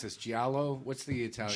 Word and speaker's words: giallo: I forget how to pronounce this. Giallo? What's the Italian? Giallo, yes.